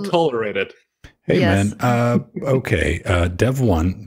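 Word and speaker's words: Devuan: Dev1, that's the correct way to pronounce it, Pedro, or whoever messed with it's a fork Debian.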